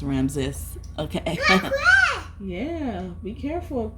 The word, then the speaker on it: Ramses: He told me it's pronounced Ramses.